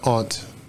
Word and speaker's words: aunt: do you have an aunt or do you have an aunt I've heard of both ways well in the lower